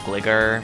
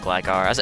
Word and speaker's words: Gligar: Some people like to pronounce it Gligar. I pronounce it Gligar. As a kid, I called it Gligar.